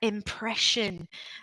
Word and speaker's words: impression: And the pronunciation there, impression, like it were an SH, impression.